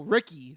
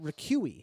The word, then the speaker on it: Ricqui: 22-year-old Ricky Holly, and her name is spelled Ricqui. Ricqui? Yeah. Boy, Ricky? Just when you think, yeah, you heard it all. No, Ricky. Because if I saw that, I would pronounce it Ricqui. No, it's supposed to be Ricky.